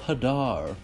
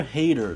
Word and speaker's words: Hadar: to be taking a look at grasp of Hadar or hater depending on how you want to pronounce it this one is probably most beneficial